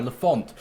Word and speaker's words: Lafont: But Lafont, well, I think it's pronounced Lafont, not Lafont, sorry, Lafont.